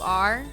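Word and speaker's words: aurum: to say uh Orum but Orum is pronounced uh Aur so that's gold yeah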